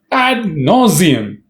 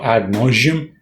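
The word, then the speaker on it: ad nauseam: you are nauseating no ad nauseum incidentally I've also heard people say ad nauseum it's not adium it's ad no right now let's see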